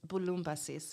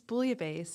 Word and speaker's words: Bulumbasis: uh how okay so will you actually pronounce it in greek yeah it's bulumbasis in greek how have other people butchered it in the way that i have well everyone thinks bouillabaisse especially because of the food writing career i had